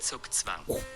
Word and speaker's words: zugzwang: zīģzwāng, which means Like we're diving into a a swim. situation in chess zīģzwāng.